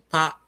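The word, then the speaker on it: ぱ: Ha with the handakten is pronounced pa, Pa.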